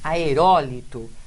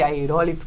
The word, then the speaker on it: aerólitos: a resposta mas confirme aerólitos não é a última minha penúltima é a antepenúltima sílaba forte então está aí se você não se lembrava da pronúncia de pudico ou de interior de aerólitos palavras chatas né agora